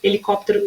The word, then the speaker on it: helicóptero: vocês vão perceber que a letra H, ela não é pronunciada, ou seja, mesmo sem letra, a pronúncia dessas palavras seria a mesma. Então, se eu pegasse essa listinha e tirasse a letra H, eu ia ter hálito, helicóptero, hidratante, hotel e humano do mesmo jeito.